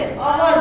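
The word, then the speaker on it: hour: देखो यहाँ एग्जाम्पल इसको हम हावर नहीं बोलते, अवर बोलते हैं। क्या बोलते हैं? एन अवर। क्या बोलते हैं? एच को हमें प्रोनाउंस नहीं करना है।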